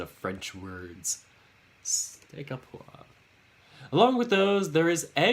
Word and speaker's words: poivre: Steak au poivre. Poivre. Wasn't sure if the V was silent.